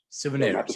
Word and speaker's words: Souvenirs: Souvenirs. So Okay. Souvenirs, the souvenirs, like the Jordan-aires.